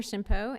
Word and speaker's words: Shimpo: was an age that's the H is silent hello my name is Shimpo and I've had the